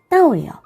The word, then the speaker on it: 到: 자, 거꾸로 하다라는 단어가 바로 따오예요. 따오. 자, 그런데 도착하다, 복이 오다라고 할 때 오다라는 동사가 또 발음이 따오예요. 같죠?